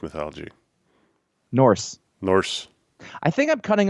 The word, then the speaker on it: Norse: mythology you know where you keep calling it north mythology norse norse i think i'm cutting off the word